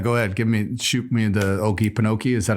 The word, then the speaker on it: Okefenokee: Out in Okefenokee, there's, I believe, an intelligent haunting out there.